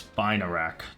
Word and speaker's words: Spinarak: It's Spinarak, not Spin. Rack.